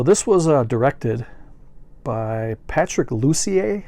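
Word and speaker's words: Patrick Lussier: was uh directed by patrick lucier i believe is how you pronounce it and he was also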